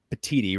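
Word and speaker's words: Petitti: I want to give a quote here, Mark, from Tony uh Patiti, right? Am I pronouncing his last name correctly?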